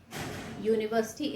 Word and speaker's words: university: University is a word which is starting with u, but the pronunciation is university. Okay, the pronunciation is U plus university. So children, the sound here is U.